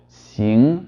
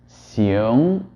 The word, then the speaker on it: xing: So for example, xing versus xiong.